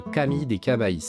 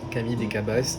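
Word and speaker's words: Camí de Cavalls: Pour se rendre au mirador, il faut suivre le Camille des Cabais en plein montage. Alors non, ça ne se prononce pas comme ça, ça se prononce Camille des Cabaiss et c'est un sentier qui fait le tour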